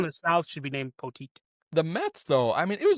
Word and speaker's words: Poteet: And that's not Cody. That's not Cody Petit, the French word for small either. It's spelled differently. Or like a mini me, Cody Bellinger. Yeah, not Cody Petit. There's Cody Petit. Cody Poteet.